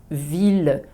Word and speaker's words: ville: Je prononce ville ou tranquillité, mais meilleure et vieille. Je prononce la phonétique le ou la phonétique ye.